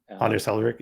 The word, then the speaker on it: Anders Hejlsberg: I'm not sure if I can pronounce the name. Is it Andres Hejlsberg? Anders Hejlsberg, yeah, he was the he was C# quite creator.